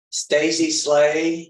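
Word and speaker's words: Stacie Slay: proceed Stacy slay would be Alexander could you pronounce her name say your name please Stacy slay s-t-a-c-i-e-s-l-a-y all right I don't know if you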